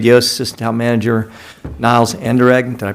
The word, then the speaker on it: Anderegg: All of the commissioners are here, present live, as well as Town Manager Wade Yost, Assistant Town Manager Niles Anderegg. Did I pronounce that right, Niles?